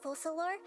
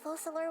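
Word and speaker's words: Focalors: generally speaking the hydroarcon fossil or will preside over individual trials is that how that's pronounced I thought it was felt I thought it was folklore oops however even then the full solar will still make herself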